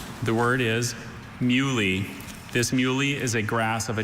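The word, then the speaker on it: muhly: Uh mui. Mui. Alter pronunciations?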